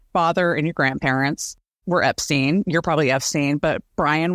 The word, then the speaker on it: Epstein: on now but so Henry Epstein nephew of Brian says Brian pronounced it Epstein I don't know what